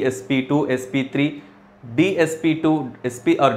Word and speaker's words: sp2: SNP SP to sp3 it's not SP Square you have to you have to pronounce like s p s p 2 sp3 DSP to SP